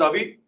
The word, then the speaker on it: Avi: My name is Avi. It's pronounced V.